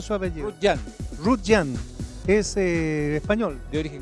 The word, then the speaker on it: Rutllant: como le dice el pp youtube está bien pronunciado suave russian es el español de origen catalán don peppers